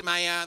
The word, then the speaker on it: Maier: But, I actually thought those were the two pronunciations, Maier, Maier. I'm wrong, Sheffield. It turns out there's a third pronunciation, Maier or Maier.